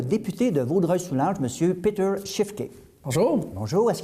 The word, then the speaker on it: Peter Schiefke: nous recevons le député de vaudreuil soulanges monsieur péter shift et bonjour bonjour est ce que j'ai pu prononcer votre nom très bien merci banquier d'origine